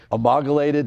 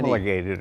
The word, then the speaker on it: homologated: well, I the keep H is silent. It's H-O-M. Right. They had to build so many. Homologated or something.